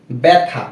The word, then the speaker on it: ব্যথা: তো প্রথম যে নিয়মটা রয়েছে সেটা হচ্ছে যে যদি কোনো শব্দের প্রথম বর্ণের সাথেই জফলা থাকে সেক্ষেত্রে সেই বর্ণটির উচ্চারণ হবে কিসের মতো, এর মতো, এ, এ। যেমন ব্যথা, ব জফলা ব্যথ আকার থা, কি হয়, ব্যথা।